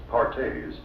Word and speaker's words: Perthes: Another crippling disease known as Perthes, pronounced Partes, was the demoralizing ailment that brought this little fellow to Spears.